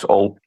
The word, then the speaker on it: Hull: Anyway, you need to stop pronouncing Hull with the H. It's Hull.